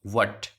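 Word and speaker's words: what: से हो जाएगा, वट, इसमें देखो एच साइलेंट है ना, वट।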